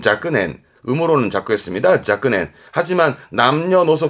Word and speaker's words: 若年: 발음은 자끄넨, 음으로는 자꾸했습니다.